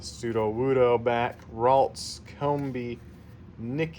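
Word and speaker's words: Nickit: Nick. It rhymes with snick.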